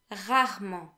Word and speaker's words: rarement: Then we have rarement. Rarement, which means rarely. The E of rarement, so after the first E in rarement, is silent.